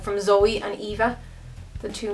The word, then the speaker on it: Zoeva: But the girl who actually um runs it or one of the girls who runs it um left me a message to say that it's Zoea.